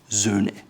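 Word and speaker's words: A. Lange & Söhne: Sohne. It's an umlaut, Ö, Sohne.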